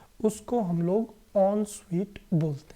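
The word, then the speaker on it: en suite: इस वर्ड का प्रोनाउंसिएशन है ऑन स्वीट।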